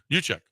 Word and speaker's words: Juszczyk: How do you pronounce it? Juszczyk.